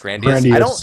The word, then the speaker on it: grandiose: Grandiose.